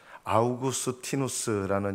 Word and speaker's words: 어거스틴: 제가 가장 위대한 신학자 중에 한 사람으로 여기는 분이 어거스틴입니다. 아우구스티누스라는 이름으로도 이렇게 사람들이 발음을 많이 합니다.